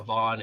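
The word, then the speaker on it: Von: I spelled bones wrong name v-o-n is uh Vaughn and Damien his name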